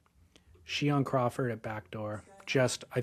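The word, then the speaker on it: Shion: Cheyion Crawford or I think they pronounce his name Shiion. Shian Crawford at Backdoor just I think on the 31st or something last day of the month.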